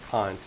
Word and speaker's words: Kant: mispronunciation of his name it is Kant not K so K's philosophy his